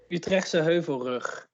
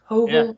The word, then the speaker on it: Utrechtse Heuvelrug: So can you help me with the pronunciation? The Utrecht Heuvel down in, how do you say it, Danielle? Utrechtse Heuvelrug. Heuvelrug. Heuvelrug.